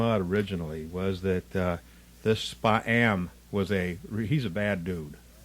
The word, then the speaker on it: Spa-am: Otherwise known as Spa-am. Spa-am, yeah. Spa-am. See, I mispronounced it.